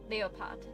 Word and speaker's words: Leopard: That's a cool name because like um Cleopatra uh Cleopatra and then Leopart uh uh leopard is pronounced leopard and in German leopart.